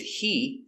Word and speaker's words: he: And remember, because the question word is important, what is stressed, with he, the H is always silent.